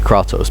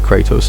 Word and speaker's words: Kratos: war hello kraatos whatever they properly pronounce it kraatos but they pronounce it Kratos in the game so yes those right